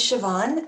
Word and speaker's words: Siobhan: It's not spelled any way like it sounds. So if you see it on screen, you say, "What is that?" It's an Irish name, and it's spelled the Irish way, the Gaelic way.